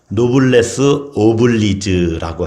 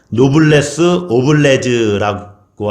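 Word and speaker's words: noblesse oblige: 이것을 노블레스 오블리즈라고 해요. 어려운 말이지만 원어라서 그래요. 노블레스 오블레즈라고 하기도 하고 스펠링이 우리나라 말로 이렇게 바꾸면은 조금 말이 달라지죠. 어쨌든 노블레스 오블리즈 또는 오블리주 이렇게 번역도 그 말을 하기도 하는데 노블레스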